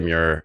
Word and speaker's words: Meurer: welcome back everyone this is Mir yeah Mir that's good enough that's that's how you pronounce it's a hard name because it's German